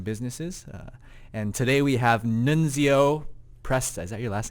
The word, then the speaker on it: Nunzio: But Nunzio. We'll go with Nunzio. You said it right. Yeah, Nunzio. Thank you.